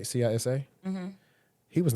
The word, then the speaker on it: CISA: Because remember the last one that was over CISA, I think that's how you pronounce it, right? CISA.